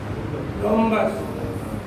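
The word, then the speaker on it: rhombus: रोम्बस। देखना एच है ना स्पेलिंग रोम्बस की है? अच्छा आर एच ओ है, आर एच ओ। आवाज नहीं बच्चों?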